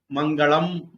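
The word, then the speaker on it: मङ्गल: So in South India, they will pronounce Mangalam. North India, they pronounce Mangala. But means the same.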